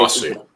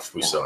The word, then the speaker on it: Fosu: And I say Fosu. What? Fosu. What is that? Is it really? Yes, Fosu Mensah, not Fuso.